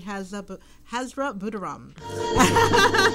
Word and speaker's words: Hazra Boodooram: Youthology Hour with the lovely Hazra Boodooram.